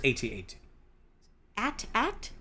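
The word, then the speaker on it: AT-AT: to say at8 either like either saying it like the word at or saying the letters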